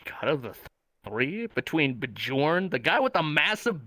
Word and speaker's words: Bjorn: to know this one the name is spelled b j o r n sleepy how do you pronounce that bjorn what's his name um bajorn okay cool bjorn who do you think is